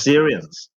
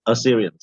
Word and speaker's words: Assyrians: even more notably uh i don't know how to pronounce syrians assyrians okay assyrians yeah so more notably in